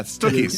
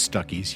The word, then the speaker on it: Stuckey's: Yeah, Stookey's. That's Stookey's. Oh, but it wasn't pronounced Stookey, was it? No. Well, Stuckey's? I think it was Stuckey's, yeah.